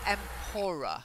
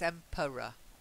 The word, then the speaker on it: emperor: If you look at the pronunciation, emperor, schwa, ra, schwa. So emperor. Try it. Emperor. Yeah, you're saying empora. There's no need. It's emperor, like per. Emperor.